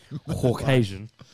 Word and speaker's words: Caucasian: My Caucasian. Pronounce the U. Caucasian.